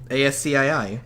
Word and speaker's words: ASCII: How is it pronounced? ASCII.